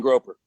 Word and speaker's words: grouper: grouper. They It's probably not pronounce grouper. grouper. Probably, I'm sure they pronounce. There's no U in it, so I pronounce it gropers, but it's probably grouper.